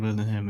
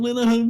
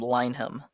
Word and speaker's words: Linehan: Like swings, like Graham Linehan, man. If it helps, a lot of Americans pronounce his last name Lineham, because I think that's how Shaggy would say it.